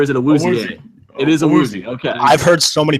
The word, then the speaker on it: Awuzie: It is Awuzie. Okay. I've heard so many people pronounce that so differently.